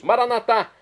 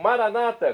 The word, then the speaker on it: maranatá: E agora eu clamo do aramaico, dialeto de Jesus, maranatá, como dizemos nóss católicos, ou maranata, como dizem nossos irmãos separados, os evangélicos ou protestantes. Não importa a pronúncia, o significado é o mesmo.